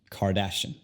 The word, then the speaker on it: Kardashian: Y ahora tenemos car. Y luego, ya que hay más de una sílaba en su apellido, las otras se convierten al sonido schwa. Kardashian. Kim Kardashian.